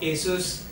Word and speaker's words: ASUS: Marshall Campos who's the marketing the vector of Asus India and causes automatically so my first question